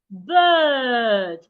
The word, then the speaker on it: bird: My the second word bird. According to the transcription, it has two dots, which means it's a long sound. So, I have to go long.